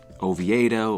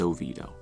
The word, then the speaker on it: Oviedo: away in a town called oviedo it's usually pronounced wrong like oviedo or oviedo but it's oviedo i was wearing tight pants and my hair